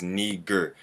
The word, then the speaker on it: Niger: do y'all see this the latin word to pronounce this word is niger simeon was called a